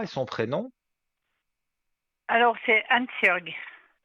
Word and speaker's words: Hansjörg: Alors c'est Hansjörg. Hanshorg.